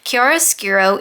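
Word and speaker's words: chiaroscuro: not only what it was but how to pronounce it kiara skiro in art is the use of strong contrast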